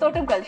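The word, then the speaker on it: Thottumkal: Ain't and so can you pronounce her second name? Totunkul. Not bad. Not bad. Not bad. Huh? What- It's Totemkal.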